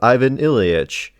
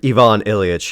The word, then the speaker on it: Ivan Ilyich: This time I thought I would do u a review of The Death of Ivan Ilich or Ivon Ilich if you prefer the perfect the correct pronunciation.